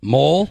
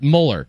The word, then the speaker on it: Mohler: molar molar molar molar mole no not mole but molar a mul molar Muller